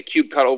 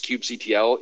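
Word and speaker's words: kubectl: themselves department i guess this is like a cube cuddle versus cube ctl issue for kubernetes i've always been so i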